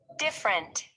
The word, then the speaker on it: different: and repeat the words notice that the unstressed vowels are not pronounced every different interesting okay please repeat